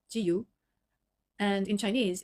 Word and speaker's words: 自由: In Japanese, it says, it's pronounced 지유.